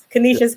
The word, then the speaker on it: Canisius: Pronounce it for me, Brya. Canisius College.